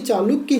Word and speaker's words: चौलुक्य: ये जो राजवंश है, ये जो गुजरात के चालुक्य हैं, ठीक है, जो दक्षिण के चालुक्य हैं उन्हें चालुक्य बोला जाता है और जो गुजरात के हैं इनको चौलुक्य। ठीक है, मतलब चौ से उच्चारण हो रहा है।